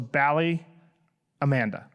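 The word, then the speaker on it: Ballyamaanda: So Ballyamanda, but it's pronounced Ballyamanda.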